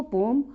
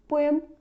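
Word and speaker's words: poem: कुछ जगह इसको पोम हम प्रोनाउंस करते हैं और कुछ जो एक्सेंट है उसमें पोएम हम इसको प्रोनाउंस करते हैं।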